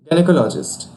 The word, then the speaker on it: gynecologist: In its pronunciation, there's stress on call syllable, and here's a usage.